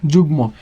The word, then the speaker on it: যুগ্ম: যেমন দেখো, আমরা বললাম যুগ্ম, তাহলে এর উচ্চারণটা কী হবে? উচ্চারণটা হবে জ্বর সুকার জু, এখানে যেহেতু অন্তস্থ জ বর্গীয় জ হয়ে যাবে, যুগ, এখানে ম আছে, এখানে হবে মৌকার ম, যুগ্ম।